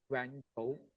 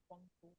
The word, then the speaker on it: Guangzhou: Now, a non-Chinese learner would read it as Guangzhou, but which is not the correct pronunciation. It's Guangzhou.